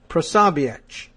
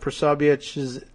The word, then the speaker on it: Posobiec: supporters led by Jack Posobiec. I'm going to give that sort of that Central European pronunciation at the end, that's C.